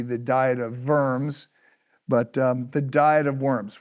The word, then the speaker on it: Worms: The Diet of, it's spelled Worms. You're supposed to say it with the V, the Diet of Worms, but the Diet of